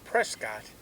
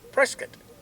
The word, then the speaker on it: Prescott: Now it's not pronounced Prescott even though it is spelled Prescott. It's pronounced Prescat and then to U Flagstaff maybe.